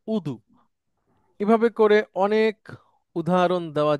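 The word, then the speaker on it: وضوء: যেমন এরকম অনেক শব্দ আছে, আমরা যেটাকে বলি গজব, আরবিতে সেটা গদব। আমরা যেটা বলি কাজী, আরবিতে সেটা কদি। আমরা যেটাকে বলি অজু, আরবিতে সেটা হচ্ছে উদু।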